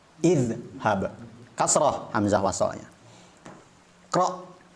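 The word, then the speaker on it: اذهب: kasrah Hamzah wasalnya contohnya ketika huruf ketiganya adalah fathah hab maka dibaca idhab kasrah Hamzah wasalnya qra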